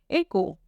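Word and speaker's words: écrou: तो नट को हम फ्रेंच में क्या बोलेंगे एक को एक अब ये एक्सेंट होता है यह हम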